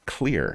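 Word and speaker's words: Xlear: See this curveball right at the front of the word and it's pronounced clear as you've heard me do throughout history.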